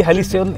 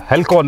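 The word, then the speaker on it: Halcyon: वैसे मैं आपको बताऊं ली हेलिसियन इसका यानी कि बोलते हैं हेलिकॉन नहीं है, हेलिसियन और हेलिसियन का मतलब होता है कि शांति, आपको शांति मिली वैसे?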